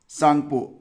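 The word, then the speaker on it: Tsangpo: सांगपो, actual में ये जो त है ना इसको साइलेंट ही बुलाते हैं वहाँ पर।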